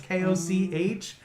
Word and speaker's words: Koch: game, also, which is Koch Media, Coke Media. I'm not sure how you would pronounce it. It's Koch, but they're also, God, the company they own is THQ Nordic, and they recently bought it.